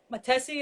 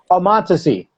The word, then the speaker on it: Montesi: I'm doing Todd Matesi, is that how you pronounce his name? Montesi. Montesi, yeah.